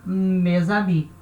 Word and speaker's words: mes amis: Então fica mes amis, certo? mes amis. Então, em cima, N vai ter som de N, ou nem. S vai ter o som de Z, mes amis, tá?